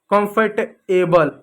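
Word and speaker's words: comfortable: कंफर्टबल गलत है।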